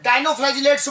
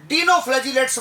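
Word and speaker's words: dinoflagellates: उच्चारण में, कई लोग इसे डिनोफ्लैजेलेट्स कहते हैं। कई लोग डाइनोफ्लैजेलेट्स कहते हैं। इसमें कोई अंतर नहीं है। आप इसे डाइनोफ्लैजेलेट्स कहें या डाइनोफ्लैजेलेट्स, यह एक ही बात है।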